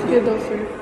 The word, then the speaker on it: Friedhofer: Friedhofer. Vou te falar, você complicou mais do que precisava. Friedhofer. Friedhofer. Você nem fala o H é mudo. Friedhofer. É. Assim que fala, então?